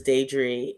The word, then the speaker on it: Diedree: Most people pronounce my name wrong, but it's Diedree.